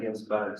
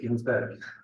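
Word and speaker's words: Ginzburg: So, is it Ginsberg? Am I pronouncing it wrong? Well, it's an eel. URG. So URG. Victor Ginsberg, yes. Yeah, that's right. No. Have you got a Ginsberg as well?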